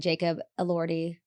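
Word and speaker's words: Jacob Elordi: Marggo Robbie and Jacob Allorti.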